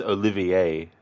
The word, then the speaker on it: Olivier: I think it's, well, it's probably not pronounced this way, but I'll give it a shot. Actually, it's Olivier, sorry.